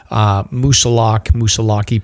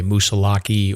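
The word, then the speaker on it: Moosilauke: Moosalaki pronunciation has come up on the Facebook pages. So I think we established like on episode 3 that it can be pronounced either way, Moosalaki or Moosalak, correct?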